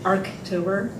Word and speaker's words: Archtober: And we also want to thank our partners in this evening's event, Archtober, it is pronounced arctober, and U.N.